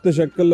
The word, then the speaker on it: تشکل: तशक्कल I would pronounce, तशक्कल जरा rightly pronounce करें ताकि ठीक हो जाए। सर तशक्कल Abbas Waraich. Is इट तशक्कल ही ना? यस यस इट इज।